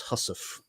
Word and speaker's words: housewife: spelled studding sales, and English speakers used to pronounce the word housewife as hussif, which is one that